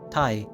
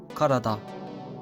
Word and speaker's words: 体: Today's kanji is body, pronounced tai, te, karada.